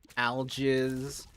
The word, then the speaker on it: algiz: It's pronounced algiz.